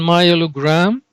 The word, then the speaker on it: myelogram: The first one, myelogram.